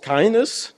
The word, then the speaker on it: KINDNS: So KINDNS is pronounced KINDNS.